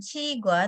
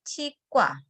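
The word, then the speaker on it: 치과: Membacanya bukan cigua tetapi cikwa.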